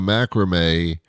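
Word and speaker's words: macramé: or to do a macrame of something. Macrame, another word that I like to say because it rhymes with everything. Macrame, have a nice day. Hey, what did I say? It's macrame. It's a fun word to say.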